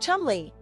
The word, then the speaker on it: Cholmondeley: Say it with me, the Marchioness of Cholmondeley, what a beautiful name," he joked, referring to Hanbury's formal royal title, pronounced Cholmondeley.